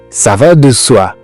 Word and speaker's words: ça va de soi: ça va de toi mais ça se prononce çavilà souvent on mange le E ça va de so mais ce n'est pas ce que vous allez entendre donc attention c'est français